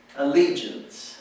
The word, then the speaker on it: allegiance: Allegiance and the and the accent is on the second syllable Allegiance Allegiance okay we're going